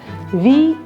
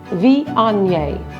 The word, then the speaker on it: Viognier: It's that tricky GN sound. Viognier. Viognier.